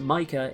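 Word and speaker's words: Mika: that may be true his name seems to be an exception to the rule and is pronounced micah in both english and japanese on the topic of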